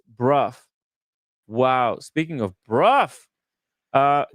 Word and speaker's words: Brough: Brought pronounced Bruff.